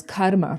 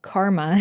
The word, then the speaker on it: karma: So what is karma? First of all, karma karma in in American English, but let's use the Sanskrit pronunciation because we actually activate the energy of the words when we use them.